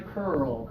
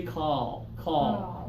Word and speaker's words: curl: a try curl Cur push those lips more forward though that's what I like good job curl yeah feel those lips go forward if we don't use our lips forward we might say call call and that's just that's a different verb okay and it can